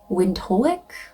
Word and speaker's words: Windhoek: Yeah, I'm hearing, I don't know if I'm pronouncing it correctly, but it's Windhoek.